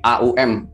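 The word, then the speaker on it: ॐ: Sebenarnya bukan om tapi aum, aum gitu.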